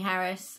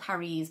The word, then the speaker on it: Harries: The main one was just listening to Jenny Harris. I'm not sure if she's Harris or Harries. It's spelt Harries, but it seems to be being said Harris.